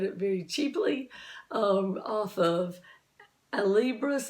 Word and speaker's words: Alibris: very cheaply off of Alibris, is I think how you say it. I always say Alberus, but I think I'm saying it wrong. I think it's Alibris because like book.